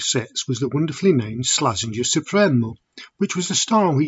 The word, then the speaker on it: Supremo: slaz SEI balleros Supremo how do I know it's Supremo and not supro because the master himself uh says so let's just have a